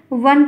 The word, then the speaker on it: वन: लिखा है इसको बा बना दो वा और बा में भी बड़ा होता है जैसे वन का मतलब होता है जंगल तो वन है तो वन को बन थोड़ी कहेंगे तो कहते हैं बन